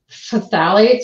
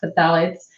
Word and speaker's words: phthalates: And so, yes, plastics play a big role, but definitely phthalates, which is really hard to pronounce, but it's P-H-T-H-A-L-A-T-S, phthalates, alkyphenols, and then everybody knows BPA or bisphenol A.